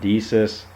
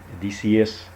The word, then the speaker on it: Decius: we're gonna talk about deesis Decius and I think I'm saying is around name wrong I think it's daysius actually it's kind of typical